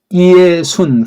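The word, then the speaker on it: Ἰησοῦν: 발음 한번 해볼까요? 이에수스, 이에수, 이에순 그렇게 읽어야 돼.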